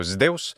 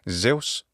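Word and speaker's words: Ζεύς: So Zeus, by Roman times, the Greek pronunciation had shifted and it was simply Zeus. In modern Greek pronunciation, though, it's Zeus.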